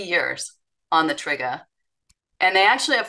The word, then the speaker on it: TRIGA: So TRIGA. TRIGA. Okay. TRIGA is that. Yep. So that's how you say it.